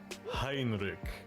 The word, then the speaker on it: Hinrich: Hinrich and last name that's funny because English people cannot pronounce CH correctly it would be h i find this always amusing when English speaking people pronounce CH as a k but I'm not going